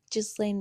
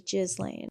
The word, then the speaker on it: Ghislaine: fashionable upper-class woman, thing Ghislaine Maxwell. And I know that's not how you pronounce your name, but that's how I'm going to pronounce it. It's Ghislaine.